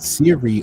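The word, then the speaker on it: Seere: It's pronounced Siri, right?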